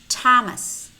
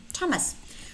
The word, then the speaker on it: Thomas: Thomas. Pretend. Attend. Contain. Tiny. Cut. Detach. Attack. Also notice that we have three words with the spelling TH which are pronounced T. Teresa, Ty, and Thomas.